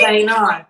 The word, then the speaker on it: Guyana: Gain on. Oh, yeah, you're close. I was trying to practice. I totally butchered that. Guyana. Did I say it right? Guyana.